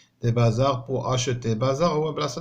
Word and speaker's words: bazars: des bazars هنا ما كاينش اس، ها هي واخا كتنطق زاد راه ماشي اس هادي. دي بازار بو اشوتي، بازار هو بلاصه اللي كنبيعوا فيه ديك المنتوجات التقليديه، الصناعه التقليديه.